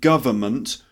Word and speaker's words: government: government government or government three syllables not four so don't say government